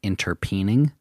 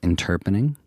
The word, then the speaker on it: interpreting: spell it interpreting so a lot of people sometimes think it's called interpening but it's called interpreting that is a word that